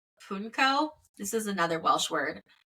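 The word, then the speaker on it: pwnco: or there was a more traditional ritual called punco this is another Welsh word it's spelled p w n c o punco is how it's pronounced um which is an exchange of rude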